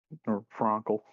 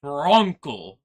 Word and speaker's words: Frankel: um all right Frankle Bronco you want to go over there bring those guys some drinks and girl you need to learn how to say my name is Frankel all right Bronco and